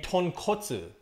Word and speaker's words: tonkotsu: And that's the difference between tonkatsu and tonkotsu.